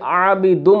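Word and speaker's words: عابدٌ: तो जब आबिदुन के आखिर में दो पेश लगे और जब इसको मीम से मिला दिया तो अब प्रोनाउंसिएशन में ये आबिदुम हो गया। बाकी असल में ये क्या था, आबिदुन और फिर माँ।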